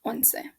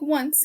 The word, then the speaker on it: once: we're starting with eleven it says one se it looks like once like once upon a time but it means once that's how you pronounce it that's going to be